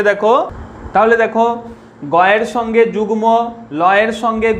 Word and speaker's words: যুগ্ম: গলন, এইভাবে মনে রাখবে, গ ল দন্তন্যর সঙ্গে যদি মফলা যোগ থাকে তাহলে তার উচ্চারণ ময়ের মতো হয়। কীরকম উচ্চারণ দেখো, যেমন লয়ের সঙ্গে যদি লিখি দেখো গুল্ম, লয়ের সঙ্গে গুল্ম, গয়ের সঙ্গে যুগ্ম, গয়ের সঙ্গে দেখো যুগ্ম,